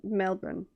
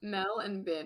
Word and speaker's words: Melbourne: i saw him and how he pronounced it and i was like melbourne yeah got it yeah yeah mel and bin yeah literally brain knew